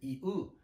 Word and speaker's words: 言う: Dizer em japonês é 言う、言う、言う、言う、言う。Quando pronunciar esta palavra, dizer em japonês 言う, pode pronunciar como you mesmo.